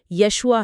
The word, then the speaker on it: یشوع: ہاں، اور یہاں زبان کے لفظی معنی بہت اہم ہو جاتے ہیں۔ یسوع کا عبرانی تلفظ یشوع ہے، اور یسوع کا لفظی